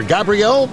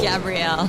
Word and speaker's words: Gabrielle: Hi there, Gabrielle. Is that the correct pronunciation? Is it Gabriel or Gabrielle? Gabrielle. Gabrielle. All right, you had it right the first time.